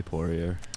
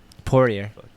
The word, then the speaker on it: Poirier: I'm Poirier.